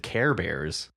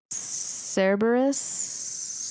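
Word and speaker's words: Cerberus: Although that's really not how you say his name, but I like to say that because it's cute. How do you say it? Uh, Cberus.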